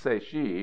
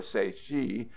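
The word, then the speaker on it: Tséyi': name - a stems from the Navajo word segi pronounced say she or say she and meaning Rock Canyon the name by which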